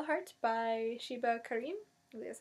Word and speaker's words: Sheba Karim: So we went tonight, and I got That Thing We Call a Heart by Sheba Karim.